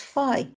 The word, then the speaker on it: phi: How to pronounce this letter? It's phi.